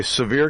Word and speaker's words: Sevier: buy into the main page you battle okay severe County gun club Tennessee that would get it but severe is spelt a little differently i IE are okay